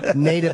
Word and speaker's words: Nada: It's Nada, right? Nada. Nada, not Nada. Yeah. Nada. Nada means nothing. That's terrible. Well, you said that earlier. No, I didn't. Nada Bakos.